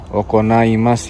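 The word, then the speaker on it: 行います: So watasu shikiwa juichigatsu mikani Kokyo de okonaimas ya. Jadi okonaimas tuh diselenggarakan ya, diadakan. Ini kan kanji iki ya. Kalau sampean nggak tahu ntar sampean bacanya iki, enggak ya, ini okonau ya.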